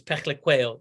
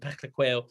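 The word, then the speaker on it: Phehlukwayo: But eventually I spoke to Wayne Parnell, South African player, and he told me it's Peklequeo. That's how you pronounce it, Peklequeo.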